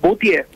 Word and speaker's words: Boutier: Boutier, con acento la E.